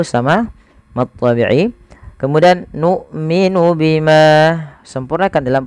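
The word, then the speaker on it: بِمَا: Bima dasarnya dua harakat. Ketemu hamzah setelahnya dan hamzah di lain kata maka dinamakan mad jaiz. Panjangnya empat atau lima harakat.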